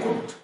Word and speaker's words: could: Similarly, could. COULD. Some rural children may mispronounce the word could, sir. No. COULD, where L is silent. Therefore, could.